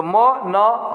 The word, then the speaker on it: मनः: जैसे म न, तो मन नहीं पढ़ेंगे, म न, मनः, मनः यानी मनः यानी ह कहा जाता है।